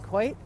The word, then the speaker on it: Coit: the coin like cat quite oh look at that he knew I was filming so the court if I'm saying that right you said it right Karen quite is right there on the hilltop